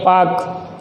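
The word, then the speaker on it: Palk: Straight, पाक जल संधि, स्पेलिंग होती है PAL के पाक, लेकिन पढ़ते हैं पाक जल संधि है।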